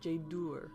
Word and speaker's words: Jaydür: make the ooh sound so it's Jade or I hear people say Tjader it's not Tjader it's Jade or or